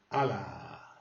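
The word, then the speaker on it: hala: Allah, Allah. Le H se prononce pas.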